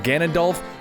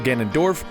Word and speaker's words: Ganondorf: Oh, and I do want to apologize for saying Ganondorf when it's actually Ganondorf, but you know what, it doesn't matter because at this point he's known as Ganon.